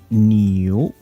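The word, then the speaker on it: 牛: So happy New Year 21. This character here, that's year, that's ox, and pronounced as new.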